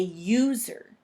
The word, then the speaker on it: user: Or you could say a user. That starts with a U too, but it makes a y sound, a user.